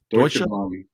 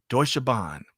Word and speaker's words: Deutsche Bahn: So, Greg, how would you pronounce the top one there? It's based in Germany. Deutsche Bahn. Deutsche Bahn.